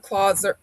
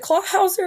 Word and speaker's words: Clawhauser: Got the Clauser. I always say his name wrong. Is it Clawhauser?